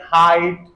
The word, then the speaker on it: height: conceive perceive and Etc third sound given by EI is the dong I I and examples are like height seismology Heist neither and either